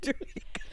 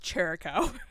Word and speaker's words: Chirico: It's actually pronounced Chirico. Really? Yes. Oh Are you my God. kidding me? We've been saying you for a Chirico year this, now. Chirico that. It's Chirico? It's Chirico. Like Jericho, like Yeah, Chris Jericho.